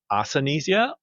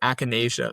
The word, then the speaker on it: Akinesia: And it's actually pronounced Akinesia though.